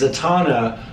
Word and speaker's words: Zatanna: Domino or, I don't want to mispronounce it, Zatanna? It's Zatanna.